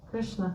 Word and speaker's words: Krishna: kishna no no no it's not long it's short Krishna kishna short or Krishna kishna not